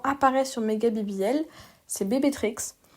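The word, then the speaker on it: BB Trickz: sur Megga BBL, c'est bébé Trix. Ça s'écrit bébé comme l'abréviation du mot bébé. Donc de B à la suite. Trix euh T R I C K Z.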